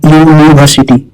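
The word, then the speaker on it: university: यूनिवर्सिटी का उच्चारण होता है यूनिवर्सिटी और यह शुरू होता है यू वाई ओ you sound से, जो कॉन्सोनेंट साउंड है। तो भले स्पेलिंग में यू है लेकिन प्रोनाउंसिएशन में वावल नहीं है, इसलिए हम कहेंगे दे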